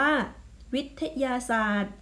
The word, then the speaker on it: วิทยาศาสตร์: ต่อ ไป คำ ว่า วิทยาศาสตร์ อ่ะ นัก เรียน สังเกต คำ ที่ ไม่ ออก เสียง คือ ต่อ เต่า กับ รอ เรือ เพราะ ว่า มี ตัว